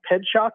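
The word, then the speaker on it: Pietrzak: race back its way back to but yeah ped shock is the way you pronounce okay so I just looked it up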